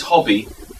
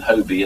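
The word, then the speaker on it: Hoby: translation by Thomas Hobby, as I think he's pronounced, rather than Hobie, as he's usually pronounced, of the Cortigiano of Castiglione, and that is Sir Thomas Hobby. I think he's pronounced Hobby partly because he's spelt double B-I-E on many manuscripts, and partly because his emblem is a hobby hawk.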